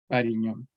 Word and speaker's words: Varignon: Y se escribe así, Variñón o Varignon. Es francés.